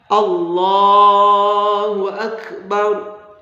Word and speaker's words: Allahu Akbar: Bacaan takbirnya Allahu Akbar, Allahu Akbar. Lafaz Allah dibaca tebal, lamnya akbar, ro-nya juga dibaca tebal. Allahu Akbar.